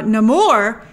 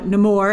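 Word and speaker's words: Namor: it's incredible but uh no more and that's how that's how they pronounce uh nemour in the film but no more and his people present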